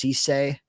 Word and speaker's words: Cisse: I'm told that his name is pronounced Cisse.